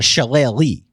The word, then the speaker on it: Shillelagh: But I like to just call it a Shillelagh. Okay, like Donna Shalala.